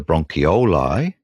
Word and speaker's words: bronchioli: lung whereas the that's the Brony but the bronchioli that's how I say it properly are the